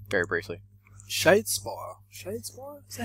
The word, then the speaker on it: Shadespire: Shadespire? Is that how you pronounce it? It is. Shadespire.